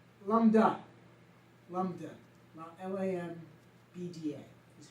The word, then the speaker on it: Lambda: Sigma, L, Lambda, Lambda, Lambda is how you pronounce it.